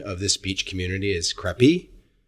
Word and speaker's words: Krabi: Coming from my first podcast in Southeast Asia, I'm currently in Thailand, and I believe the proper pronunciation of this beach community is Krabi.